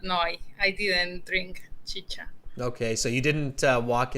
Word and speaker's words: chicha: with this okay so chi-cha not chica chicha all right uh so